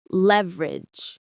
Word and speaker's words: leverage: Let's pronounce that. Leverage. Or in some places, leverage. Both are common. The stress is on the first syllable.